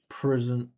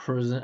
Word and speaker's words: president: Putin in president I don't even hear three syllables listen this prison day after the meeting between president president look at how I say President President President Trump President Putin stress syllable is so much bigger in my version power not to be attacked again.